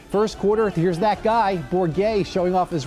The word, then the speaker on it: Bourget: The last name of Miranda quarterback is Trenton Bourget, is spelled right. B-O-U-R-G-E-T, but it is pronounced Bourget.